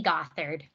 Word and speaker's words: Gothard: Yes, it's Gothard.